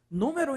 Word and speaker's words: número: número separe no Meo Qual a sílaba mais forte professor é o nu Ah beleza ó última penúltima antepenúltima número então é uma proparoxitona coloa aí no seu